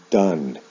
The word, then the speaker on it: done: the pronunciation is different o-n-e with do is pronounced done o-n-e with go is pronounced gone and then